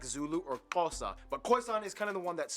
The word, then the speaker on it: Xhosa: But I always thought it was just pronounced Josa. Like the XH made a J. Josa. Guess I was wrong.